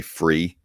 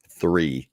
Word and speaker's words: three: things I really don't like when people say free instead of three three is the word not free it's just just